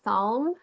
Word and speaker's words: Psalm: it's s it's a p is silent like in psychology so it's it's psalm um okay yeah it's psalm All right.